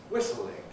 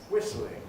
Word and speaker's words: whistling: From the verb to whistle, 2 syllables, we can add in, giving whistling, whistling. But what we often do is lose a syllable, turn the L into a plain